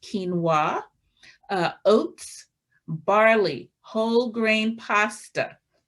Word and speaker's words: quinoa: We're talking about brown rice, millet, quinoa, which looks like quinoa, but it's pronounced quinoa, oats, barley, whole grain pasta.